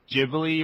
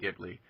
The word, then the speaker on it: Ghibli: the week that um Studio jibli or gibl or however you want to pronounce it either you guys have a preference I'm going to say ji I'm okay with jibli okay the fact that we think it's jibli makes it almost certainly gibli let's all be United